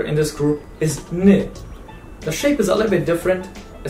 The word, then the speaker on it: ن: And the next letter in this group is N.